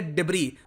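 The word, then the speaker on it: debris: डिब्बे में प्रवेश करना ऐड साइलेंट है इसको करेंगे डिग्री और इसका मतलब होता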